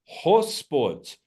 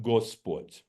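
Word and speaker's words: Господь: Yaakov vist Hospod. Okay, here's another change. The G sound in Ukrainian is pronounced as a H, as an H. Hospod, not Gospod, okay?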